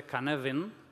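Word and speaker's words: Cynefin: Este marco de aquí, que engaña porque está escrito Cinefin, pero en realidad se pronuncia Canevin, porque es galés, es un orden creado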